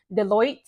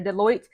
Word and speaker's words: Deloitte: So she actually joined an organization, or a company rather, called, I believe it's pronounced Deloitte. I'll post it up here, Deloitte.